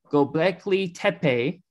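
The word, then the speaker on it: Göbekli Tepe: drum roll i'm if i say it wrong go blakely tepe in 9600 bc is that how you pronounce it yes it is beautiful and then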